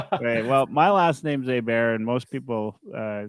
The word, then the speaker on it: Hebert: Well, my last name's Hebert, and most people say once a day they say Herbert.